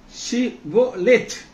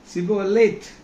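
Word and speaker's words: שִׁבֹּלֶת: நீ ஷிபோலேத், சொல்லுங்க ஷிபோலேத், அப்படி ஒரு வார்த்தையை சொல்ல சொல்றாங்க, ஷிபோலோத் என்று சொல் என்பார்கள். அப்பொழுது அவன் அப்படி உச்சரியாமல் சிபோலேத் ஷிபோலேத் சிபோலேத் என்பார்.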